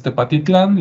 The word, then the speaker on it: Tepatitlán: En Tecpatitlán, que hoy pues es Tepatitlán, le quitaron la C a la hora de la pronunciación.